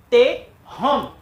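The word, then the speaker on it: תְּהוֹם: caso se divide aqui, Tehom. Então, nós transliteramos Shivá e ele vai aparecer aqui em cima como um pequeno Ezinho pronunciado de forma rápida.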